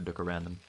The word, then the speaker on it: 뚜까랜덤: You're supposed to pronounce it in the Korean way, but just going for 뚜까랜덤.